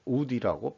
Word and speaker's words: UDE: 결과라고 명명을 하고 있습니다 언리자이어블 이펙트를 해가지고 약어로 우디라고 발음을 하고 있습니다 다음에 그 소개할 것은